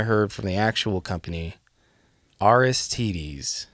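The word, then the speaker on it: Aristides: okay I've heard the name of this guitar pronounced several ways but then I heard from the actual company aristes aristes is what this is called I always said aistis but that's wrong rstd it sounds like like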